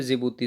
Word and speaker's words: जिबूती: और D four है जिबूती। जिबूती को डी से लिखते हैं। ठीक है, डी साइलेंट है जिबूती में, तो हटा दीजिए इसको।